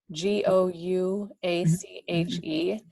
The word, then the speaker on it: gouache: about technique and i'm not sure how to pronounce the first one it looks like gauche g-o-u-a-c-h-e versus watercolor yeah okay so gouache is a